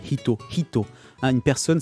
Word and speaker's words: hito: Hito. Hein, une personne, c'est pas Ito, c'est Hito. Hito.